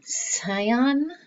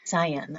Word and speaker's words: cyan: sky is still bright scion i think that's how you pronounce that i just looked it up it's cyan i was close like a very pretty color of blue i haven't pronounced it out loud before i've just read that so now i know how to say cyan but the sun is